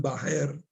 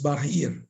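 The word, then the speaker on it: bahir: Por ejemplo, los devotos pronuncian Bajer en la canción Bajer Nirsingo Hridaye y es Bajir Nirsingo. Entonces, algún devoto al comienzo del movimiento la pronunció Bajer y así se quedó como sucesión discipular para los demás. Pero no es correcto, es Bajir.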